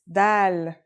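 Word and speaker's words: د: Our first letter is dal. It's just like the English D.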